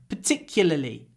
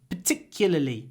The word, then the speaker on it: particularly: instead say parly and at the end don't pronounce the r l is difficult but LLY is easy particularly particularly particularly particularly particularly particularly particular particularly practice it